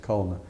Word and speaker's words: Culana: Henry Culna, we'll spell Culana, but folks in Churton pronounce it Culna.